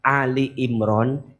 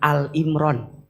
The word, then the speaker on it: Ali Imran: Kalau maca Ali Imran, jangan Al Imran. Bacanya harus Ali Imran karena yang dibahas di situ maknanya keluarga Imran.